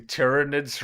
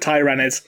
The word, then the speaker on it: Tyranids: have you started pronouncing tyranids right yet beautiful and the answer is no I'll still pronounce it Tyrannis like Tyrannosaurus sniper fires sound that's my